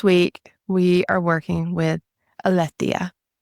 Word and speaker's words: Aletheia: And then this week we are working with Aletheia, Alethia. It is a Greek goddess. So Aletheia is the English pronunciation of that.